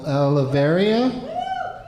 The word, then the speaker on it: Aliveria: Our first pre-selected individual is someone who goes by Aleveria, Aliveria. Did I pronounce that right? Yep. Aliveria? Yep.